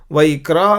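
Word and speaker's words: ויקרא: अब केयरफुली आप देखेंगे तो यहाँ पे वैक्रा का के नीचे एक डॉट है, उसका साउंड क्या है? ये उर्दू में कव्वाली या कत्ल या वैसे शब्द रहता है। वो खा ख ग का नहीं, वो खा को थोड़ा अलग से बोलना पड़ता है, जैसे कि उर्दू में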